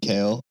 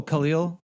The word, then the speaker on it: Khalil: I just said Kale. But it's, let me scroll back up to it. It's Kalil. K-A-L. Oh, Khalil? Yeah.